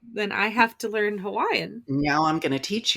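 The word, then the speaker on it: Hawaiʻi: Nauyo So right, then I have to learn Hawaiian. now I'm going to teach you. So you may not have known this, but in Hawaiian, W's, much like in German, what is that? W's are pronounced like V.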